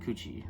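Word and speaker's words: Cu Chi: That's exactly how it's spelled, right? Not Coochie, but like it's like C-U-C-H-I, right? But Coochie, right? Coochie.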